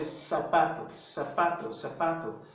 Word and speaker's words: zapato: Now, in Latin American Spanish, the Z is pronounced as the S sound. So that would be zapato. But in Spain, the Z is pronounced as the C, the TH in the word think, like think. So the TH here in think. So someone from Spain would pronounce this sort of zapato.